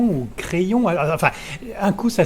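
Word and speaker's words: Kryon: Il y a aussi Crayon ou Crayon. Enfin, un coup, ça s'écrit K-R-Y-O-N et un coup, ça s'écrit K-R-Y-E-O-N.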